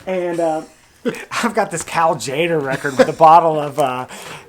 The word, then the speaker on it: Tjader: we you know we people say his name different I believe it's Cal Tjader yeah possibly vibraphonist I